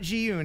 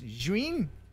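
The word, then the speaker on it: Zhiyun: It's not Jiyun, it's Juin. Juin. It's Juin.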